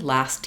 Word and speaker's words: last: So in this case, I do want to say the T, last year. Yes, last year. Last year I went there. Last year. I can say it last year we did that because the st is very fast. I think to be accurate, most of the time, think about trying to use the ST in last.